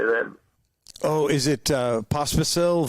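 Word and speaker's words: Vašek Pospíšil: Oh, is it Pospisil? Vasek Pospisil?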